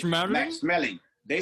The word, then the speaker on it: Schmeling: When I was in Germany, they said Max Smelling. Over Oh, here, okay. we pronounce it smelling because it smells, right? Yeah, So we yeah. said smelling. But then Uh, it was Max Smelling because it's in the enunciation is much faster. So it's like okay.